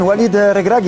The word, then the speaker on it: Walid Regragui: ¿Cómo lo pronuncio? Sí, bien, Walid Regragui.